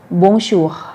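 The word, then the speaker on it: Bonjour: ออก เสียง ร่วม กัน นะ คะ บู ชู บุญชู ให้ หมด เกิด เบา ๆ นะ บูร์ชัวร์ บุญชู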